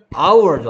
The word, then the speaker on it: hour: hour죠. hour. 그렇죠. 아뭐 초딩들한테 이렇게 써서 보여주는데 hour. H가 소리가 안 나기 때문에 on hour 해야 된다는 거, on orange 이런 것도 있습니다.